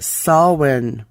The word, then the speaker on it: Samhain: h AI n it's an Irish pronunciation pronounced saw when someone was a period